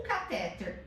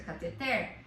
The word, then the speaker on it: cateter: O catéter, que o certo é cateter, se você procurar no dicionário, você vai ver também que não tem acentuação. Qual é a sílaba tônica? Cateter. Ai, professora, sério? Sim, sério. Se fosse catéter, seria uma paroxítona e teria que ter acento, mas essa palavra não tem acento.